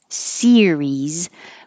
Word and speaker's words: series: practiced here it is series versus Sirius so Sirius has three syllables stress on the first syllable like sunflower serious sunflower that's a serious